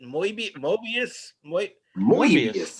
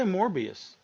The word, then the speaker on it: Morbius: say how do you say it is it Mo morius I just say morbius morbius yeah okay I just always it was one